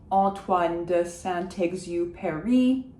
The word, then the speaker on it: Saint-Exupéry: Why do I pronounce the T of Saint? Didn't I say that I shouldn't be pronouncing T's? Yes, however, I'm pronouncing it because it's followed by a vowel of Exupéry.